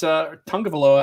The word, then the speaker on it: Tagovailoa: Tua Tagovailoa is Tungavailoa, I guess is how you say it, is 2-0 in his career.